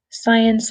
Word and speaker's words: science: action cartoon documentary drama science fiction and romance so what do you think the pictures are and with the pronunciation just be really careful with science because that C is silent there's science fiction and